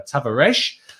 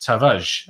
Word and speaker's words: Tavares: of ways i've heard tavares i've had heard uh tavaresh but actually uh you don't even pronounce the r from the sounds of things it's just tavage uh is how you